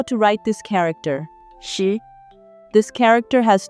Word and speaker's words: 十: It is pronounced as 十. Let's see how to write this character. 十.